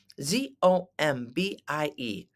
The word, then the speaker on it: zombie: that is a zombie z o m b i e zomie zombie what's a zombie can you say it zombie you try it zombie the emphasis is on the first uh syllable zombie a zombie is